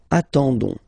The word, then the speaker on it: attendons: and then we've got the classic ending for nous, so O-N-S, okay, you don't pronounce the S, so you get only this on sound, okay, attendons, nous attendons, so we'll